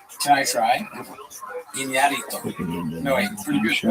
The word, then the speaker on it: Iñárritu: And I think Iñárritu, you have to say his name right. There was an accent on the thing. Can I try? Iñárritu.